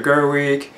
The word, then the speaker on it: Gerwig: directed by a greater Gerwig then that's how you pronounce her last name and again you do